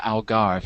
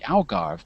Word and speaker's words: Algarve: here in Portugal, we we say the Algarve even though it should probably be Algarve, but it's when the words enter the language a long time ago, we sometimes use the old word patterns.